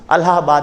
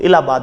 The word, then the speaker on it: इलाहाबाद: अलाहाबाद भी बोलते हैं, इंग्लिश में यदि आप पढ़ते हो तो अलाहाबाद है, और हिंदी में पढ़ते हो तो उसको इलाहाबाद अपन उच्चारण करते हैं।